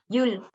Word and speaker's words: Llull: ¿Y cómo se pronuncia? Yul. Yul.